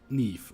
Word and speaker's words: Niamh: It's spelled Niamh. Neve, okay. Yeah.